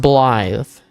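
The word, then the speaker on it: Blaidd: It's pronounced Bllythe.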